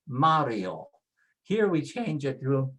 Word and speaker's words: Mario: Mario doesn't have an accent, and so it is pronounced with next to the last, Mario.